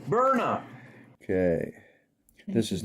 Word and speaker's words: Byrna: and regulators before purchasing, transporting, or using the Brian Launcher. And warning, this is not a toy. You're right. All right, let's see if I can get this a little better. Pronounced burnup.